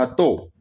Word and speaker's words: हतो: था को बोला जाता है हतो। ये भी ध्यान रखना है।